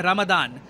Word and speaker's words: रमदान: पूरा इलाका है ना, यहाँ पे हम लोग कहते हैं रमज़ान, वेराज जो अरब वर्ल्ड है और जो मिडल ईस्ट का बाकी पार्ट है वहाँ पे वो लोग कहते हैं रमदान। तो प्रोनाउंसिएशन का फ़र्क है, बाकी Ramzan रमदान they are both the same.